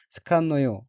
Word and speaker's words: 好かんのよ: 넷째 줄 첫 번째 어귀는 한자가 좋을 호자이고 일본어로는 스칸노요 라고 읽으며 스칸노요에서 응은 나이의 뜻으로 스칸노요는 안 좋아해 란 의미입니다.